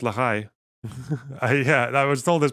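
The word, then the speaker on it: Lehi: I have many Zionist colonizer friend okay it's pronounced Lai or just the stern gang isn't it pronounced Lei no apparently not apparently it's pronounced Lai yeah I was told this by a [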